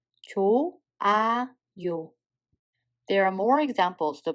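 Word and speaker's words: 좋아요: As you just heard, there is no H sound between 조 and A. If there is a H sound Batchim followed by a syllable that starts with a circle like this, the H sound becomes a mute. So in this case, we don't pronounce H.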